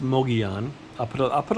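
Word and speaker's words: Mogollon: It's M O G O L L O N, but it's pronounced Moian.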